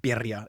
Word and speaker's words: birria: I guess I'm pronouncing birria. You gotta have the R in there.